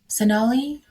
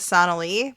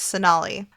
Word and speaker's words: Sonalee: Sonalee Rashatwar. Yes, I used to think it was Sonalee, but it's Sonalee.